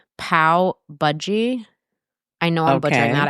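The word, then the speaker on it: pav bhaji: I asked Hershel 10 million times and every time I say it, he's like, "It's budgie." Budgy. But I don't know. There's a certain syllable that I struggle with.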